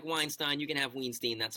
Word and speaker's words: Weinstein: you get one pronunciation I've always said Weinstein my whole life and people look Weinstein no it's either Weinstein or its Weinstein you don't get both especially you Harvey you